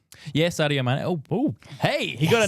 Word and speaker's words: Sadio Mané: Yeah, Sadio Mané. Oh, hey, he got a name wrong.